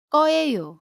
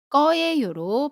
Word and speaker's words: 거예요: 을 거예요, 리을 거예요는 거예요가 아니고 꺼예요로 발음합니다. 예문 볼게요. 주말에 뭐 할 거예요? 거예요 발음 거예요라고 하지 않고요. 꺼예요 라고 발음합니다.